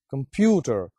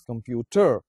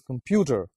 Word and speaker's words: computer: it in this way, computer. And if you put stress on the third syllable, you would pronounce it as computer. The actual pronunciation is computer. like the stress is on the second syllable.